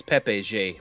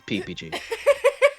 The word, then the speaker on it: PPG: p it's p-e-p-e-g-e-e not people think it's pepe j but it's not it's it's ppg uh your voice snowden